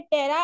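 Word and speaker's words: ptera: मतलब जैसे मैंने जितने भी वर्ड के साथ एंड में टेरा आएगा ना, पी साइलेंट होता है, तो वो तो ये विंग्स हैं।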